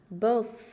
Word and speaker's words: birth: Birth, birth.